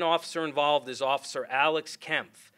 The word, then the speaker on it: Kempf: Our second officer involved is Officer Alex Kempf, spelled K-E-M-P-F, and it's pronounced Kemp, Kempf.